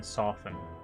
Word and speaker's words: soften: Nobody pronounces the T in soften.